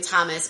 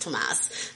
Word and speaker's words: Thomas: we keep calling him thomas but his his name is actually pronounced tomas um but um we're